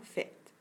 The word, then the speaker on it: faites: Lorsque tu écris le mot, tu vas écrire faites, et il y a une lettre muette à la fin. Lorsqu'on prononce ce mot, on prononce seulement faites.